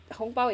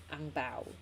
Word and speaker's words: ang bao: I don't know, because hong bao is Chinese ma, it's Chinese, but then when you have to say it in like a English, kind of an English way, we pronounce it as ang bao.